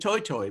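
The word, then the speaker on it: toetoe: new zealand where it's called the new zealand toy toy which is spelled t-o-e-t-o-e um and then when i later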